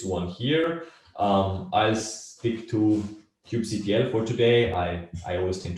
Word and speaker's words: kubectl: And then the main discussion point is always like, how do you pronounce this one here? I'll stick to kubectl for today.